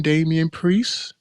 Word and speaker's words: Damian Priest: uh world how do how do you pronounce it uh World Heavyweight Champion Damian priest is that how you say it yes sir more